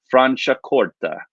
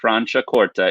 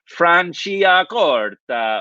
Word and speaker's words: Franciacorta: you'll do much better so franciacorta okay franciacorta is how you say this it's not like franciacorta or anything that says franciacorta okay